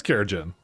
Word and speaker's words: kerogen: it makes up for it how do you pronounce keratin that's second kerogene that is kerogene keratin take care Jen what it is that's